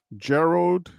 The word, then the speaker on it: Gerald: bad Gerald Gerald d Gerald D said like Gerald Ford okay okay Geral Ford